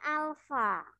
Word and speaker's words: alfa: ikan apa misb Aduh ini bukan ikan anak bacanya Alfa ya koefisien muai panjang lalu